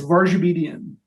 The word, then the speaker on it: Varjabedian: and you're certainly not the first so please pronounce say your name so everybody hears it the correct way sure it's varge obedient and my my my my people you know